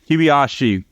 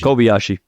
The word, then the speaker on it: Kobayashi: his name now um kibayashi um I not just butchered it Kobayashi like Kobe Kobayashi Kobe um but they you